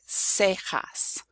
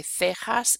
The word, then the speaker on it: cejas: So if you have, for example, a CE or a CI, the word will be pronounced, the letter C will be pronounced S. So for example, in the word cejas, which is eyebrows, or in the word cisne, swan.